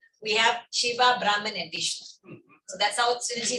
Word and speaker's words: Vishnu: How do you pronounce it? Vishnu, Brahma, Vishnu, and Shiva.